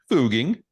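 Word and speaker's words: Fugging: kind of sort of going to mirror more phonetically how you act how you would actually say that word with a German Austrian accent so now it's now it's f-u-g-g-i-n-g fooging booging okay Austria um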